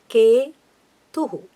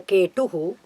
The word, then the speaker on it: Ketu: And then Ketuhu. It's a, you have to use the dental ta. It's not a Ketuhu, as I keep hearing in all the astrological videos.